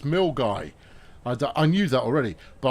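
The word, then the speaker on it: Milngavie: it's eight Centigrades in uh in Milner it's mil guy I knew that already but I was going to say Mill gay uh so uh so I was close but I know it's not pronounced mil gavi uh I know that because I've been corrected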